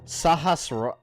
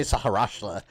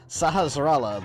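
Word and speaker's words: Sahasrahla: am indeed so I've never taken the time to pronounce that properly sahasrallah I always say saharashtra sahasrallah the village Elder and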